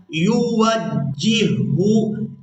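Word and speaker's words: يوجهه: لفظ کو ہجے کے ساتھ سیکھیں گے۔ اینما یوجہو، اس لفظ کی ہم نے ہجے اس طرح سے کرنے ہیں، یا پیش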